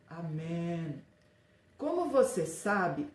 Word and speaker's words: amém: hebreu uso hebraico e ela se pronuncia com e fechado amém como você sabe o